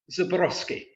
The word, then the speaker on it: Zborowski: the audience, as it's this number, how you pronounce the name that's on screen. Oh, all of a sudden. Zborowski. It's Zborowski.